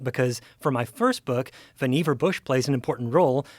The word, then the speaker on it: Vannevar: But it's Vannevar Bush. Bush himself says that it rhymes with beaver, his name, so it's Vannevar.